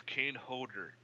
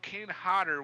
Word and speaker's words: Kane Hodder: was driving me bonkers you keep saying it's cane holder like what hyegyo no Kane Hodder would do such and